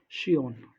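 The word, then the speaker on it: scion: श्वयन। ठीक है, श्वयन का मतलब होता है ऑफ स्प्रिंग, या इसको हम बोल सकते हैं वंशज, शियोन।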